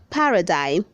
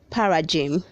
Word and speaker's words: paradigm: red 327 says paradigm say paradigm don't say para jim read 328 says plat